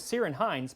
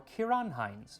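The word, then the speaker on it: Ciarán Hinds: he i used to think his name was cyren hines but it's actually pronounced kieran or kiran heinz my favorite irish actor so put a layer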